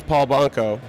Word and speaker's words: Paul Banco: This is Paul Banco. Did I pronounce that correctly?